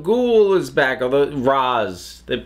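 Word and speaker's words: Ra's: the bat Rachele ghoul is back of a Roz that pronounce it Roz in the spike aunt after the episodes ends I can never remember in this weather they're pronouncing it Rea sure Roz uh in any case he's back the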